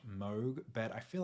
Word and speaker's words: Moog: Parts on many of the songs including a moo and ARP synth base on the track that